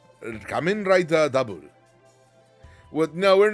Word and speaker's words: Kamen Rider W: But before all that, you'll have to watch Kamen Rider W. It's pronounced double. Kamen Rider Double.